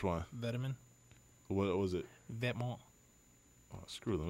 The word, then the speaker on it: Vetements: Vetements. Oh, screw them. It's America. It's pronounced Gordon.